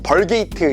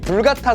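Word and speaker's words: Vulgata: 번역을 합니다 이것을 불같다 성경 발음에 따라서는 뭐 벌게이트 이렇게 표현을 하기도 합니다 뭐가 더이 교과서적인 모르겠어요 저는 이렇게 둘 다 배웠어 아무튼이 불가타 성경이라고 할게요 불가타 성경이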